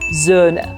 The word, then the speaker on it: Söhne: But because you have the umlaut, it's Söhne.